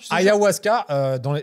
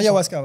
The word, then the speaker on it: ayahuasca: Ayahuasca, c'est comme ça que se prononce. Ayahuasca, ouais.